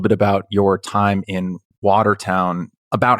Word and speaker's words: Watertown: prejudiced place in America I believe I'm pronouncing this correctly Watertown New York or is it Waterton water got it Watertown Watertown I never know those